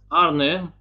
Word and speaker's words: Arnhem: Nijmegen and Eindhoven were, because this is the proper way of pronouncing these words in Netherlands, Eindhoven and Arnhem and Nijmegen. Nijmegen.